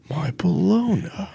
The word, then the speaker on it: bologna: the baloney he's like bologna which is which by the way my the word baloney if you ever see how it's spelled it yeah b-o-l-o-g-n-a a regional name yeah so yeah I